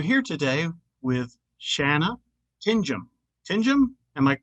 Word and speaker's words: Tingom: Tinjum? Am I right? Yes, you are correct. Tinjum. Oh, you only told me the correct pronunciation 3 minutes ago.